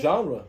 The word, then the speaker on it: genre: Genre, right. Genre.